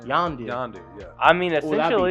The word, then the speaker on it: Yondu: I think she's gonna be the new Yandu. Is it Yandu? How do you say his name? Yondu.